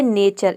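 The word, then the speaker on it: nature: अब देखिए इसका रूल नंबर 2 है कि यदि किसी वर्ड में टी के बाद अगर यू आर ई आ जाता है तो वहाँ पे टी को हम च प्रोनाउंस करते हैं, या फिर आप ये समझे कि टी यू आर ई, इन चारों लेटर को मिलाकर हम प्रोनाउंस करते हैं चेयर।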